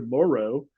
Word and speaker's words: Moreau: All right, let's look at the tight ends, Foster Moreau. That's Foster Moreau. We've been thinking about him as the island of Dr. Moreau, but it's really Foster Moreau. And Moreau. And that's how you say it.